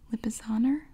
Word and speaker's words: Lipizzaner: right oh good thinking mere pronounce Brendan seasoned pronunciation Lipizzaner okay Lipizzaner lipice owners are powerful horses with